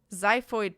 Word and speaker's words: xiphoid: I realized then, of course, that I had no reason to worry about peeing my pants because apparently the X in xiphoid process is pronounced like a Z.